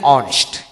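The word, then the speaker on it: honest: তবে 4-5টি শব্দ আছে ডিকশনারিতে, এই 4টি শব্দ অ্যাডেড পড়বে অ্যান বসে, কারণ হলো এইচ এর উচ্চারণ হয় না সেক্ষেত্রে। যেন অনেস্ট, হি ইজ অ্যান অনেস্ট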